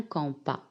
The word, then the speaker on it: compas: un compas un compas alors ici s à la fin c'est une lettre muet 2 ne se prononcent pas un compas minkala donne un rapporteur